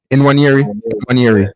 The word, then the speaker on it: Nwaneri: How do you pronounce his last name again? Nwaneri.